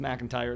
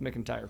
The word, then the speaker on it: McIntyre: and her she says it's pronounced mcintyre it's not pronounced mcentire trust me and i